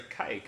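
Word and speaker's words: caique: It's a kike, if you're wondering what kind of bird it is. It's spelled C-A-I-Q-U-E, and this is actually the most playful parrot species that you can get.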